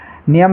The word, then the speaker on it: knee: जैसे नी, KNEE, नी means होता है घुटना, तो यहाँ पर देखिए शुरू में के है और उसके बाद में एन है, तो के साइलेंट रहेगा, के को हम उच्चारित नहीं करेंगे, इसको नी पढ़ेंगे। कुछ बच्चे इसको किनी पढ़ते हैं, किनी गलत हो जाएगा, ओनली नी पढ़ेंगे।